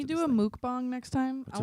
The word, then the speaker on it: mukbang: What is mook and what is bong? It's one word. It's spelled I thought we were gonna Muk smoke M-U-K. Mook.